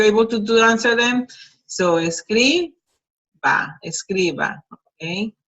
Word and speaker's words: escriba: So escriba, escriba, okay? Notice that the pronunciation changes from escribir, which shows the accent in the last syllable, and here it goes to second to last.